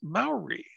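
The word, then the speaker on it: Māori: treated better it's actually it's actually pronounced Maori Maori Maori yeah I just learned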